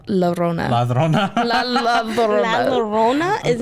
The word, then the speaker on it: La Llorona: I always thought it was a ladrona. Ladrona. La La Llorona is how I was going to pronounce That's how, yeah.